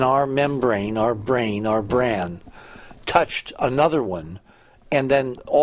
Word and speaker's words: brane: It should be bran, not brain.